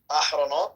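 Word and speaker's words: אחרונות: So first, no, you said the second word wrong. So the first word is Yediot. Yediot Ahronot. Ahronot, not Yahronot. Yeah. Not Yahronot, Ahronot.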